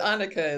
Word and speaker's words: Annika: all them correctly but Annika is is how you say her name um yeah so just